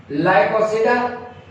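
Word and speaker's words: Lycopsida: सिलोसिडा लाइकोसिडा लाइको P silent तंहिंजे करे हिनखे लाइकोसिडा पढ़बो.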